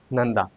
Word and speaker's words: नंदा: दूसरा है नंदा। यहां पर न का उच्चारण हुआ।